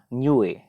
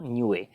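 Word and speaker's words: Niue: उसके बाद एक आपको दिख रहा होगा न्यूए। ये जो है ये है न्यूए। इसका प्रोनाउंसिएशन यही है, इसको न्यू प्रोनाउंस नहीं करना है हम लोगों को, न्यूए, इसको न्यूए पढ़ेंगे।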